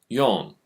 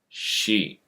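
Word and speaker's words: 四: Yon. She. That was tricky. I said both pronunciations of the character.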